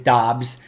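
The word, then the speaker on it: Doubs: with dubs because it sounded cooler it's not dubs although dubs would be cool to cheer it is dobbs so romeo dobbs zac tom which is a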